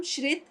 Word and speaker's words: श्रित: तो मेरा नाम श्रित है। श्रित। श्रित। हाँ, क्योंकि कोई श्रुति बुलाता है, कोई बुलाता है, तो ये कंफ्यूजन है, क्या है? श्रित। श्रित तो । श्रित जी, मैं अभी भाई